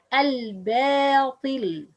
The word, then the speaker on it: الباطل: Common mistakes for ba: pronouncing the ba heavy when followed by a heavy letter. Al-batil, al-batil. It's the right pronunciation, but other people pronounce because ba letter followed by ta. Okay, al-batil, al-batil, but it al-ba, not al-ba. Al-batil. No, it's wrong.